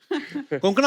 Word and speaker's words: कोंकणा: हमारे पर मुझे लगता है कोंकणा, आपको जब अलग अलग स्टेट के लोग मिलते हैं तो वो आपका नाम सही से प्रोनाउंस करते हैं.